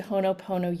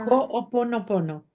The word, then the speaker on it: Ho'oponopono: Ho'oponopono. Okay, yes. Ho'oponopono. Honopono. Okay. It's got another syllable for us, right?